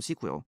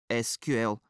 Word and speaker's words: SQL: В днешни дни много от нас произнасят SQL като "сикуъл", защото е по-кратко, и имаме исторически причини да твърдим, че е правилното произношение. Въпреки това когато анкетирах разработчици от целия свят, открих, че много от тях използват "ес кю ел" на своя език, като например "ese cu ele" на испански.